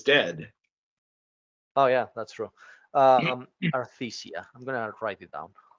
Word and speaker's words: Arthesia: especially if you know Artesia's dead. Oh yeah, that's true. Arthesia.